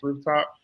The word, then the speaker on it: RFTP: I am the founder and managing director of RFTP, pronounced Rooftop.